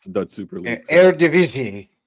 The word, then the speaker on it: Eredivisie: Is that how you would pronounce that, right? I don't really watch the Dutch Super League. So. Eredivisie. Eredivisie.